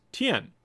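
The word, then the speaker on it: 天: this character is pronounced that means heaven is pronounced Tian it means heaven Koreans would borrow Chinese but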